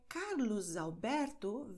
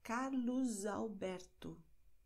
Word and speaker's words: Carlos Alberto: Bei Carlos Alberto wird S hier als S ausgesprochen, weil S befindet sich am Wortende und das nächste Wort beginnt mit einem Vokal. Das heißt Carlos Alberto, José.